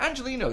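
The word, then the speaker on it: Angeliño: away one of their biggest weapons uh remember angelino scored both the goals against istanbul in the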